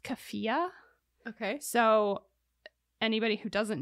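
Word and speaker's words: keffiyeh: the white girl accident I believe it's pronounced kefia Okay so anybody who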